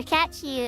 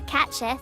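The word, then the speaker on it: Cait Sith: But yeah, so Catchy, or Catchith, depending on how you prefer to pronounce it, right?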